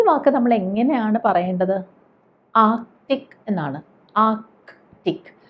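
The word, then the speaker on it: Arctic: ആർട്ടിക് എന്നാണ്, ആർട്ടിക്. ആർ കഴിഞ്ഞിട്ടൊരു ക ശബ്ദം വരുന്നുണ്ട്, ആർട്ടിക്.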